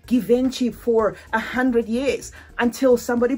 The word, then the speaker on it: Givenchy: I was saying Givenchy for 100 years until somebody put it in my comment section. It's Givenchy. Okay, they spelt it like that, and now I know better. Givenchy, I'm sorry. Givenchy.